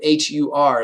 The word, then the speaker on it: Hur: So this word hur or char is a hole or a den, and the name is hur. The name of a person was, or the name H-U-R in the scriptures.